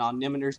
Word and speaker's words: omnimeter: Darn it, no, the official dev's pronunciation is omnimeter. Omnimeter. Omnimeter. Omnimeter. Remember, whenever anyone argues with you over the pronunciation, the dev says omnimeter.